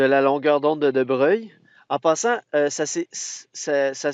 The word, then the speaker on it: de Broglie: en de Brogli mais ils ont gardé une espèce de prononciation plus italienne don de Breuil un